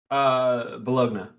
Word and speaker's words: Bologna: Okay, I don't want to say this last name wrong, but it's spelled like baloney, and I just. Bologna.